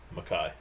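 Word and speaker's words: MacKaye: Hey, How do you pronounce his last name? Mackay.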